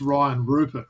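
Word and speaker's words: Rayan Rupert: that French accent um if you're like a real Aussie sort of bug and you'd say it's Ryan Rupert right but also in the French little way there so he went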